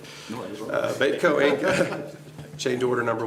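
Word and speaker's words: Beytco: Babyco. Baitco. B-E-Y, that's what it seems like, B-E-Y-T-C-O? Yeah, you're right. Baitco Inc., change order number 1, booster pump station.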